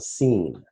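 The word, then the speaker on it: سين: it's always pronounced the scene so alif is an a sound also like iron is an open a sound and then scene is the S sound which is called a fricative in the same way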